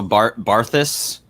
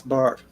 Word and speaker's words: Barthes: Also, Barthus, was that Roland Bart? Yes, Bart. Yeah. Yep. Mispronounced, of course, because these rabbits have no idea what they're talking about. Yeah, Bart. Barthes. Yes. Yep. Gotta love them French names.